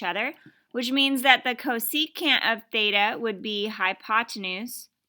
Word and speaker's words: cosecant: the sine function is cosecant so we pronounce that co secant okay and it's actually opposite of what you might think notice the first three letters are cos so co it sounds like it